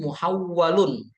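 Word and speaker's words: محول: Wa huwa nau'ani, tamyizun muhawwalun dan tamyizun ghairu muhawwalin. Jadi bacanya tuh muhawwal.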